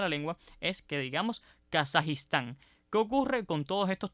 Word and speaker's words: Kazajistán: región y por tanto no sería aconsejable eliminar la i de esa palabra y decir por ejemplo kazakstan ni ni incluso con a o sea ni kazajstán ni kazajstán son formas aconsejables lo preferible es mantener esa I detrás de la J y lo adecuado entonces